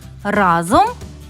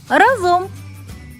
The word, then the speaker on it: разом: можна у словниках у першому слові маємо подвійний наголос можна говорити і разом і разом наступне слово треба